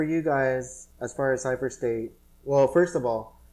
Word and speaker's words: CypherST8: You can just look up at Cypher State, which is spelled CYPHER, and then ST number 8. Yeah. Some people think it's Cypher Street or Cypher Street 8. Yeah. Or Cypher State. But it's not that.